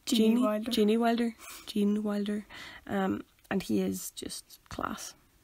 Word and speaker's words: Gene Wilder: do you say his name Jeanne Jeanne Wilder Gene Wilder and he is just class yeah the tunnel